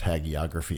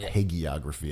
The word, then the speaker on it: hagiography: love that word hagiography I think it's pronounced hagiography and not hey geography I've been going with Hagee just cuz Ron's with better words like shaggy what's that jay-z